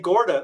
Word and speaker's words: Garda: when I think Jonathan was out of Lake Garda. Is it Lake Garda?